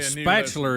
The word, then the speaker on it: spatula: The latest email People I still got, please tell Rick, all caps, spatula does not contain an R. So, see, now we just told you. You say spatula, it does, like rhyme with bachelor.